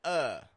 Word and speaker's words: of: develop this habit of pronouncing of as an uh or of either awah uh or awah with a V of but never awah with an F of if it has an F it's going to sound like the